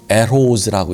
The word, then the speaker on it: Rrose: 그 사인이 뭐냐면 RROSE, 이것을 에르호즈라고 읽어야 돼요. 에르가 두 개이기 때문에, R이 두 개이기 때문에